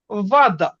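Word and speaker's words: вода: তো দেখেন আমরা একটা ওয়ার্ড যখন পড়তেছি যে ওয়াদা, ওয়াদা, সো দেখেন জোর পড়তেছে কোথায়? দার উপর জোর দা পড়তেছে।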